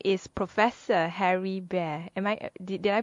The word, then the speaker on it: Behr: And his name is Professor Harry Behr. Did I pronounce it correctly?